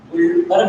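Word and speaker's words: Guldberg: एक का नाम है गुलबर्ग, थोड़ा यहाँ ध्यान रखना है, गुलबर्ग में डी साइलेंट है, ध्यान रखना है, गुलबर्ग नाम है, डी साइलेंट है, एंड बाकी।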